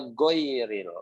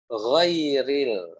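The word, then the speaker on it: غير: Jadi jangan teman-teman bacanya goiril, ya. Jangan sampai teman-teman bacanya goiril, tapi gho. Ghairil, seperti itu, ya.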